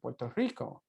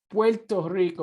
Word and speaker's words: Puerto Rico: And I want to remind people that it is Puerto Rico or Puerto Rico, not Puerto Rico. And as you can tell, I'm not shy about using the Spanish pronunciation, even when I'm speaking English.